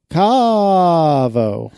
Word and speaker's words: Caavo: I don't even know how to pronounce this. Caavo? Caavo. That's it. That's exactly how you have to say it.